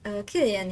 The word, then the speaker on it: Cillian: I thought back in the day that you have to pronounce it as Cillian. And then I found out that you have to pronounce it as Killian, and that just made me sad.